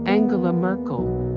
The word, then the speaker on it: Angela Merkel: Germany's first female chancellor, Angela Merkel, was born on July 17, 1954, as Angela Dorothea Kasner in Hamburg. Her name is pronounced AHN-gay-luh MEHRK-ell.